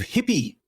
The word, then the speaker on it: HiPPI: going for 10 years hippie is spelled not h i p y uh but hi i p i I and it's an acronym for uh the high Precision um polarimetric instrument so high hi P High